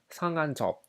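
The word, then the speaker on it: 상한 적: This presents some difficulty because when you pronounce this individually, we have “sang”, “han”, “ceok”. But when you combine them, it becomes “sang-an-jeok”, which means “to hurt”.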